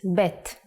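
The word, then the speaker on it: בּ: the second character is BET The Sound of bet is B and it looks like this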